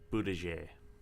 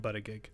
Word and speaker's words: Buttigieg: His name is apparently pronounced Buttigieg. I don't like it. I'm still going to call him Buttigieg.